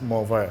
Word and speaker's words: Mont Vert: I might be pronouncing it in English, but in French it's Mont Vert.